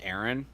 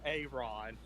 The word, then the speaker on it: Aaron: that way bro aaron it's still pronounced aaron i'm saying a ron that ain't on you